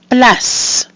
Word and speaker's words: place: Place. Place. So we have our A, which is pronounced A, and a silent mute I at the end. That gives us place.